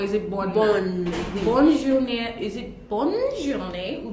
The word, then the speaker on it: bonne journée: So we may not be able to differentiate whether we're pronouncing the N or we are not pronouncing the N. But then it's bonne journée.